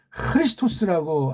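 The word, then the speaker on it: Χριστός: 크리스토스라고 하셔야 된다니. 우리는 그렇게 발음도 가능하고 유일하게 표기가 가능하잖아요.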